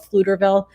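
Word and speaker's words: Pflugerville: know like there's a place called fluterville it's spelled with a p over there and it's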